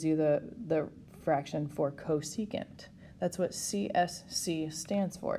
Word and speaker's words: cosecant: okay and i'm also going to write out these words this is pronounced co secant this is pronounced secant and this is cotangent